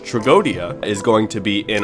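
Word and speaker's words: Tragoedia: Moving on to the last card that we have, Tragiodia, or as it is mostly pronounced Tragodia, is going to be in our deck as well.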